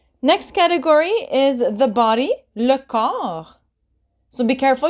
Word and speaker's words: le corps: Next category is the body, le corps. So be careful, you don't pronounce the P nor the S.